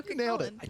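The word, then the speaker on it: Cú Chulainn: Next up, the god that always makes me sweat because I know I never pronounced the name correctly, Cuchulainn. Yeah, so Cuchulainn.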